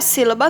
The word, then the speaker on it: sílaba: Por exemplo, a palavra sílaba. O si está acentuado. Então, a gente já sabe que o si de sílaba é a sílaba tônica.